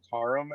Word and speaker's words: Karam: Uh, I pronounce it Karam actually, and but you can call me Karam if that's what you prefer.